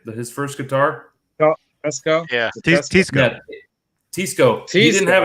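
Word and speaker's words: Teisco: Tisco.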